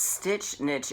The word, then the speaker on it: Stitch Niche: And it's Stitch Niche, it rhymes, but it's actually spelled Niche. Like, that's a niche market. So it's pronounced niche, but it's spelled niche.